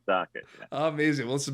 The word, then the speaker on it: Sochet: It's spelled French, pronounced Socket.